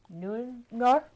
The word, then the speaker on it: Neuendorf: And two of my special guests here are Neuendorf. How do you say that? Neuendorf.